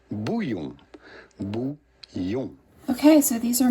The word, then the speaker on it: bouillon: And I've been kind of experimenting with a couple different types of bouillon, however you pronounce that. In France, we would say bouillon.